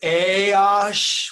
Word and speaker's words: AAOSH: Russo oh it's definitely my pleasure thanks guys for having him so first off we pronounce it hey OSH what do we pay off it's an acronym